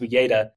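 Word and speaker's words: Uyeda: commissioner Pur and commissioner I think it's pronounced UGA um they were firmly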